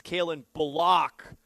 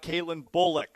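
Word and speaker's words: Calen Bullock: But it's Kaylin Block, not Kaitlin Bulock.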